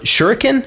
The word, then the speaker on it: shuriken: And freezing them and then killing them with your shuriken?